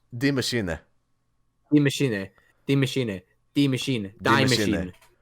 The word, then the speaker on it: Die Maschine: Pronounce it properly for me. What? Der Eisendrache? No, Die Machine. It's not Die Machine. Die Maschine.